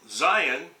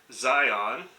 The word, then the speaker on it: Zion: any controversy over pronunciation the question is whether the last two letters should be pronounced like the on switch of a light switch zion good morning from zion